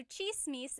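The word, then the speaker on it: tsismis: One thing, in Tagalog, it's spelled with a TS. The TS combination makes that cha sound.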